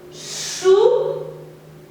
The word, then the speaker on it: choux: Des choux, des choux. Ok. Il y a aussi la lettre X qui est muet qu'on ne prononce pas.